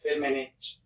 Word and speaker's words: Firmenich: Right, let's find out about Firmenich, and let's see how we pronounce it. Firmenich. Firmenich.